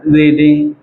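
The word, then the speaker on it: read: रीडिंग। रीडिंग की third form क्या होती है बेटा? रेड होती है। पढ़ते हैं रीड रेड। रेड है लेकिन स्पेलिंग क्या होती है? सेम होती है।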